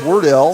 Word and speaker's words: Wardell: Grayson Wardell. Okay. And I should know how to pronounce that. My name is Adele, and this is Wardell, so that ought to work for me.